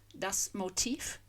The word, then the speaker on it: Motiv: motive and motif, button because it's spelled with a V on the end yet sounded like an F and with the stress on the second syllable motif, the motive for the deed.